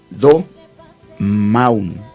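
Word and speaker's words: domawn: La palabra hebrea para silencio, en la orden que Pablo dio a Timoteo, es do-maun. Do-maun. Esta palabra es una palabra hebrea que se escribe D-O-M-A-W-N y significa quieto, devoción, confianza, descanso, confiar, etc.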